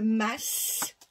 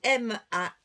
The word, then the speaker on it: mas: Je vais dire chez nous en Provence le masche, on prononce le S. Ça s'écrit M A S.